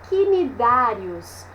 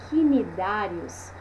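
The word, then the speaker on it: cnidários: Então, quando a gente vê aqui, ó, quinidários, né? Esse C mudo aí, é confuso na hora que uma pessoa pega essa palavra para ler e nunca tinha ouvido a pronúncia, tá?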